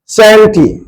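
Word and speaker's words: chanty: And next literary term is सैंटी। इस CS से start है, लोग इसका प्रोनाउंसिएशन च से ना करें, इसलिए मैंने इसका प्रोनाउंसिएशन लिख दिया है सैंटी।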